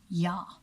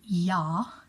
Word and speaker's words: ja: this wonderful so basically there's a word in German called yaw yaw means yes and it spelled j8 because we pronounce the J as a Y and Afrikaans is exactly